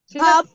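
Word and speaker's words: top: হবে বাতাস বের হবে টির উচ্চারণটা আমরা ঠ এর মত উচ্চারণ করব লাইক আমরা নট say table it's table ঠপ কাপ ঠপ কাপ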